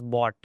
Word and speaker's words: bot: is not false right but this we'll pronounce as bought okay and we'll see why